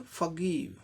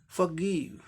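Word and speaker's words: forgive: जी का ग साउंड जो कि कॉन्सोनेंट साउंड है, आई के लिए ई शॉर्ट एंड क्विक ई, और वी और ई 2 लेटर के लिए व साउंड होगा, व साउंड, क्योंकि ई का उच्चारण नहीं होता है, व साउंड। तो ई क्या हो जाएगा ब्रिटिश में, फॉरगिव, क्षमा करना, फॉरगिव। अब इसी का अमेरिकन में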